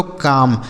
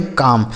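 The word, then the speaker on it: calm: अगला शब्द है सी ए एल एम। इसे पढ़ा जाता है दोस्तों काम। सी ए एल एम काम। देखिएगा यहां जो एल लिखा है ना यह साइलेंट है। इसको नहीं पढ़ेंगे।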